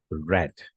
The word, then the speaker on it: read: form of read is red okay spelling will remain same but the pronunciation will be different and it will be pronounced as red and that's how uh